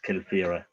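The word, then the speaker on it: Kilfearagh: So Eamon, I'd like to come in there, say that Mayarta is pronounced Mayarta, Kilfira is Kilfira.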